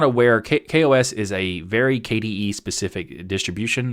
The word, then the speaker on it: KaOS: And if you're looking at the video version, you might look at it and go, isn't that KaOS? It's actually KaOS. That's how they pronounce it.